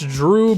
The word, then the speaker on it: Jrue: going on, even if his first name, it's Drew, but it's spelled with a J.